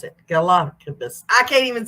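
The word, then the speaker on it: Galápagos: Just my English teacher over here is Galapagos. Is how you pronounce it. Galapagos.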